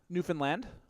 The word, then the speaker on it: Newfoundland: Kira Taylor and Mitchell Taylor for teaching me the proper way to say Newfoundland. You got to put the D. It's a hard D on the end.